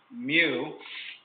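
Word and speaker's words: μ: It's pronounced mu, is greater than or equal to 1 3/4 ounces.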